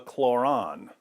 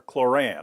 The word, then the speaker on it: Kloran: kkk's handbook is called it's called the chloron or chloran I'm not sure how they pronounce it it's supposed to parallel the Quran but with their Alabama accents I imagine they would say chloran you can order the